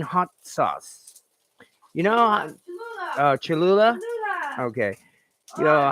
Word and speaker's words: Cholula: kind of thing is uh uh i can't pronounce this uh chula's green hot sauce you know oh cholula okay you know how does everybody feel about